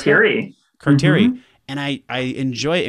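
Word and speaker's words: carterii: How do you pronounce Carteri. It? Carteri.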